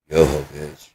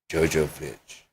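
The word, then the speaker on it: Jovovich: It's not Johovich, it's Jojovich. We all say Yoho, even though we recognize it, even though Johovich. Why? Because that's how it's pronounced.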